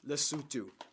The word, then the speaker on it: Lesotho: u.n oh by the way this country is pronounced lesotho all right my fellow american geograpeeps america do